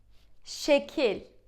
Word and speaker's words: Şekil: Sh, we say, right? Sh. So it's sh sound. Sh. Sh. Okay, let's try to pronounce this word. How would you say it? Şekil.